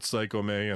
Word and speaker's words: Psycome: I was like, well, if you go by Japanese romanization, you would pronounce the E as an A on the end of it, plus comedy. It has like the E is sounded. So I was like, Psycho love comedy, so Psycome.